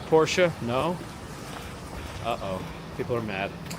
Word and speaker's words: Porsche: Porsche. It's a German name, and the E at the end is pronounced.